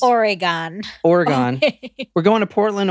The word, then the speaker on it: Oregon: weird okay go ahead I said it how it's pronounced Oregon Oregon we're going to